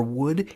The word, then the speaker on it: would: will becomes would and what's super weird about these ELLs and could should or would is listen to me saying them you don't pronounce the ELLs and this is the only place in English where that silent L shows up it's so strange ah